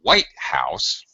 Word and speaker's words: White House: Street here's the thing notice the big difference in my pronunciation Mr Obama lives in the White House White High House low it has compound noun syllable stress okay white high on the first one first on the main syllable where there's only one